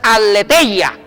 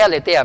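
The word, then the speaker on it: ἀλήθεια: La palabra griega, verdad, es aletheia. No que aletea, no. En griego es aletheia. Depende cómo se pronuncie la zeta o la teta. Aletheia o aletheia en el griego.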